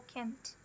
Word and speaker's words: can't: O que diferencia eles é que o can, geralmente, ele é unstressed. E, por consequência, ele é falado com o som do schwa. Ele é com o can. Já o can't, ele é falado com o é, com o som é mesmo, e ele é stressed. Can't.